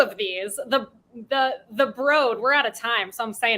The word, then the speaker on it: The Broad: i did this originally i pronounced it the broad and i got yelled i had all people from l.a on on the show that week and they it's the broad they all yelled at me uh so i will